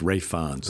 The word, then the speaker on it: Ralph: heard this other day I know I'm not pronouncing Ralph fin or ra ra Rons Rons I knew I KN well it doesn't look like that like ralis but it's Rons ra FS so he has endorsed kilan Murphy